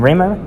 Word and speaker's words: Rehmeier: Rehmeier? Rehmeier, yeah, you got it right.